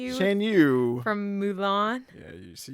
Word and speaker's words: Shan Yu: I hope I pronounce this one right. Shan Shan Yu? Is Oh, Shan Yu? Shan Yu.